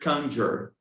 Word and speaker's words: conjure: Like the word conjure would be the like "can," really, with "a" sound.